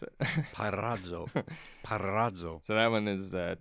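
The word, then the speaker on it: πειράζω: G3985, Pyrazo. Pyrazo. That one is tempt. I knew how to pronounce that. Did you? Go ahead and pronounce it. Parazzo.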